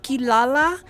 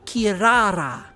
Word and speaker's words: Kirara: Like, for example, kilala in English for Inuyasha, it's pronounced kirara. Kirara. They don't use an L, they use an R.